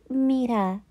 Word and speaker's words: Mirha: She shyly stood in front of the class and said, My name is Mirha.